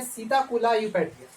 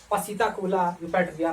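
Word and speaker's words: Psittacula eupatria: है, पैरोट का है, देखिए पी साइलेंट है यहाँ पर, इसीलिए इसका है सीताकुला यूपैटिया। पी को छोड़ करके बोलेंगे सीताकुला यूपैटिया। नहीं तो आपको आप लोग याद करते रहना झूठे मूठे, पसीताकुला यूपैटिया, पसीताकुला यूपैटिया, कुछ ना होगा, है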